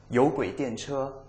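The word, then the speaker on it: 有轨电车: Und wie spricht man das jetzt aus? Yōguidiànchē.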